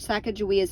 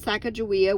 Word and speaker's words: Sacagawea: clark's book was published the publisher spelled sacagawea with a j instead of a g leading people to mispronounce her name and number eight shashani